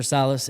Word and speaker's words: Sales: Salas. It's spelled Sales. Sales. S-A-L-E-S. For the longest, I thought that was your last name. Yeah, it's actually French. Salas. It's a French last name.